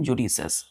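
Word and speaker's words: judicious: pronunciation कैसे करते हैं यहां पर आई साइलेंट हो जाता है इसको हम बोलते हैं जुडिस और लिखते क्या है जुडिशियस आई लिखते हैं लेकिन पढ़ते क्या है जुडिस इसका मतलब होता है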